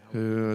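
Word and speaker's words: jalapeño: And I said, Stephanie, do you see that little tilde over the end? You're saying it wrong. It's jalapeno.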